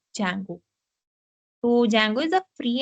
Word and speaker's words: Django: is uh Jango pronounced the D is silent so we call it Jango so Jango is a